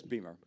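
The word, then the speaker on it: Beymer: along with uh Richard how do you pronounce his last name by the way Richard Richard Beamer yes Beamer Beamer yeah like BMWs I'm sorry yeah okay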